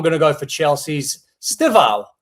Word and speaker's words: Estêvão: So I'm going to go for Chelsea's Estêvão, not Estêvão. He pronounced it Estêvão.